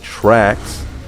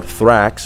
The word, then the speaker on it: Thrax: And then we have what is probably my most favorite car in this game, the Truffade Trax, or Thrax, whichever way you want to pronounce that.